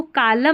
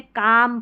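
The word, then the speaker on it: calm: दे Riemann, remain, अब इसको कालम नहीं पढ़ना, एल साइलेंट है, काम पढ़ेंगे, क्या पढ़ेंगे, काम।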